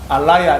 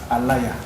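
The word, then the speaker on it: ālaya: 예, 아레아식이라고 쓰는데 그가 원어로 발음을 하면 알라야 이렇게 돼요. 알라야, 알라야예요.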